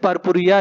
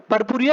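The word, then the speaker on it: purpurea: Dried leaves of digitalis पर्पुरिया लिन। ठीक है, जो आपका बोटेनिकल नेम है डिजिटैलिस का वो है हमारा डिजिटैलिस पर्पुरिया। ठीक है, पर्पुरिया या फिर पुरपुरिया, दोनों प्रोनाउंसिएशन सही है।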